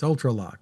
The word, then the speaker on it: ULTRALOQ: Yeah, Well, it's spelled for those who are listening ULTRALOQ. That's UltraLock.